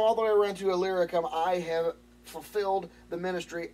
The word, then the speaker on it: Illyricum: the way around to, I mispronounced this earlier, it's Illyricum, is how you say it. From Jerusalem all the way around to Illyricum, I have fulfilled the ministry of the gospel of Christ.